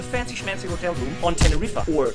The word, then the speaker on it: Tenerife: I'm in a fancy schmancy hotel room on Tenerife, or Tenerife. You can also mispronounce it and call it Tiny Rifey, but then you're one of those persons who also call a mojito Mojito.